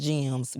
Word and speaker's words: GMSS: It's GMSS, but it's pronounced GEMS.